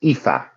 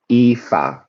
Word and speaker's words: Aoife: So, if you look in the chat, you have one there, Aoife, and this is pronounced Aoife, Aoife, Aoife.